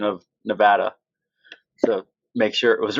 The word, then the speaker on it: Nevada: was really stressing prior to this interview my pronunciation of Nevada so make sure it was right you nailed